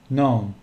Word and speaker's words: gnome: Gnome. Yani gnome. G harfli okumuyor.